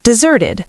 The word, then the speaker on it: desert: The answer is deserted. The soldiers who deserted their posts. Desert used as a verb meaning to abandon. One S. Pronounced desert.